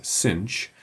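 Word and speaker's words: sinh: So sin hyperbolic typically denoted s i n h and sometimes pronounced informally as cinch uh is equal to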